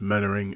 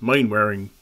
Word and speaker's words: Mainwaring: Yes, I know that Mainwaring should be pronounced Mannering, as in Captain Mannering on Dad's Army, but Mainwaring is how we pronounced it, so I'm going to stick with that pronunciation.